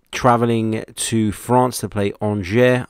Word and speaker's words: Angers: to France to play Angers. I think that's how you say it. A mate of mine calls them Angers, but I'm pretty sure that's not how you say it.